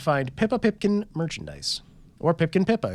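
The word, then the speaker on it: Pipkin Pippa: pppa Pipkin merchandise or Pipkin pipa if I was to say her name correctly for once and you can order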